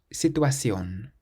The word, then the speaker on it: situación: This next word has an accent over the O, situación, situación, meaning situation.